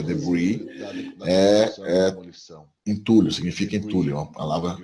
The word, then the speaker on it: debris: Debris, a palavra de origem francesa, né, se pronuncia debris, entulho, significa entulho, uma palavra apropriada no inglês a partir do francês.